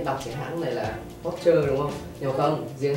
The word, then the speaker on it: Porsche: là Linh sẽ đọc cái hãng này là Porsche đúng không? Nhưng không, riêng hãng này là Linh biết cách đọc đúng, đó là Porsche.